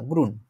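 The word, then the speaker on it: grün: গ্রুন গ্রুইন ঠিক আছে এইটা হচ্ছে আপনার একটা উমলা আউট আছে জাস্ট একটু অদ্ভুত ভাবে উচ্চারণ করলেই হয়ে যাবে যদিও লেখে এটা বুঝানো সম্ভব না গ্রুণ গ্রুণ মানে কি সবুজ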